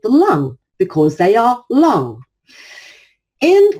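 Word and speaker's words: 龙: the word long now it's pronounced lung as in the lung you breathe with if you were to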